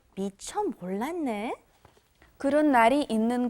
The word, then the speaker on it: 몰랐네: It's not 몰랐어요. 몰랐어요, when that 시읒, that double 시읒, 쌍시읒 comes before an N, it becomes 몰랐네. That turns into an N sound.